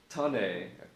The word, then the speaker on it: tonne: It's pronounced ton. Okay, all right, thanks, Chris. So tonne is ton.